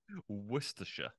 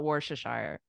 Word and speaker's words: Worcestershire: didn't know it from Worcestershire was I close Worcestershire oh yeah Worcestershire Worcestershire yes okay I'm still gonna call it worshiper that's what I've been saying my whole life